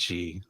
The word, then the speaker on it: Xi: Isn't it pronounced she? Yeah, I think it's she.